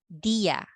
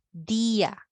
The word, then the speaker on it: día: This accent here, when you see this in this tilde, so this one here, if you see that, that means you have to pronounce it separately. Dia. Okay? Dia, not dia.